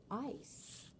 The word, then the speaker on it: ice: It's spelled I-C-E. Remember, that's a long I sound, I, and that E is quiet.